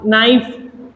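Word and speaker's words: knife: के हमारा किल का नाइफ ठीक है इसमें के साइलेंट है और ये मैं आपको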